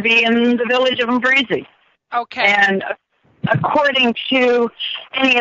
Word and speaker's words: Mimbarizi: It's Mimbarizi. You kind of skip over the M, so it's Mimbarizi, Masaka, Uganda, Africa.